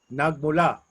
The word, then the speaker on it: nagmula: So in Filipino, the A's and the E's and the I's, they all sound the same in any word that you say. And the thing is, the vowels are always fast and they're tight. So like saan, ka, nagmula. So it's tight.